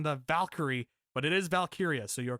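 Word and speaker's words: Valkyria: So, let's get to Becky Lynch and Lyra Valkyia.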